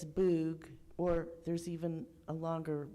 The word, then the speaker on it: Bug: There was a river, and some of you might know that river, and I'm going to say it like an American, the Bug River, but it's Boog.